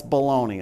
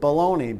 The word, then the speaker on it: Bologna: Like how you spell it, like how you eat it. Baloney. Yes. That's bologna.